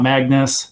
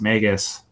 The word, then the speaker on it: Magus: is ancient right it's not Magnus its Magus okay that's how I pronounce it and that's how I was told